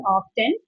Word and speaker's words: often: So what we have mostly studied or we are we are taught in the schools is often and the teachers specially tell that T is silent. They used to tell that but still if we are listening to new versions sometimes we get confused whether it is often or often. Okay. Okay. So try to use the pronunciation often because that is the most accepted one.